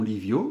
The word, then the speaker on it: Livio: Alors, dans ce cas-là, 2 I dans le prénom Livio. Le premier I est réellement une voyelle, li, on entend bien le I.